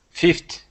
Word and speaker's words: fifth: coincide perfect next one fifth so um just really practice those th sounds because I'm hearing fifth like a t i want to hear the th Fifth Fifth Fifth Fifth